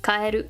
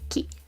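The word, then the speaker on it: 帰: This means to return or go home, kaeru or ki.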